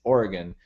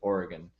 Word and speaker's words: Oregon: Oregon basically well I okay I still say Oregon it's it's Oregon they pronounce it Oregon on the west coast and so I need